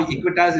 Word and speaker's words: Equitas: I'm happy you started pronouncing my bank's name correctly here. You first time you stumbled, but now Equitas is coming through your tongue like a flow.